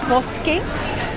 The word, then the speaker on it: Poskem: His book launch, it's called Poskem. Well, it's Poskem, but Poske is the pronunciation.